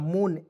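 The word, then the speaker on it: moon: में क्लियर और देखिए आपको दो कंसोनेंट के बीच में डबल ओ आ जाएगा उसका उच्चारण बड़ा ओ के रूप में करेंगे देखिएगा मून M double O एन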